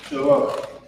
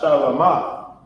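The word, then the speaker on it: שָׁלוֹם: But this is Shalom. Notice that it's not Shalama, because in ancient Hebrew,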